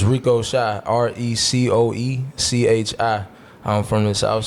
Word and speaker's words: Rico Shy: Some people think I'm like Ricochi. They see it, they pronounce it Ricochi. You think he dochi? But she's fire. It's Rico. Yeah. She's amazing. It's Rico Shy.